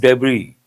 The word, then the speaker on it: debris: What is the spelling of debris? D E B R I S. But S is silent.